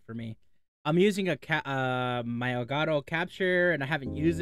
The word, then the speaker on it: Elgato: It's Elgato. It's just the name of that company. They don't like it being pronounced in Spanish for whatever reason.